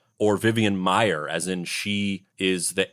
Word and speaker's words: Maier: intellectual ramblings right right I think it's pronounced mayor mayor I like the sound